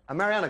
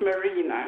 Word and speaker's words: Marina: Mariana in line for Mariana good morning hello hi there I I think I've got my name wrong it's Marina oh Marina sorry my